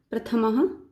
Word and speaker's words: प्रथमः: संस्कृत में विसर्ग, और जब इनको बोलते हैं तो इनका उच्चारण होता है ह की तरह। जैसे ये क्या है, प्रथम, लेकिन साथ में विसर्ग लगा है तो इसको हम बोलेंगे प्रथमः पाठः।